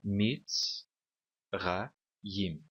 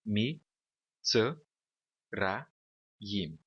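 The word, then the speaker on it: מִצְרַיִם: A palavra está dividida em três sílabas aqui, tá bom? Mits, ra, yim. Estas duas sílabas aqui são sílabas fechadas e são sílabas átonas. Olha só, fechadas. e átonas. E também tem vogais curtas, tá bom? Se esse cheva fosse um xeva vocal, nós teríamos a sílaba assim: mi, t, ra, yim. Teríamos quatro sílabas.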